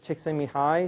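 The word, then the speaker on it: Csikszentmihalyi: so another theory of what motivates people is chicken Mi high flow okay that's Mii chcken Mii I actually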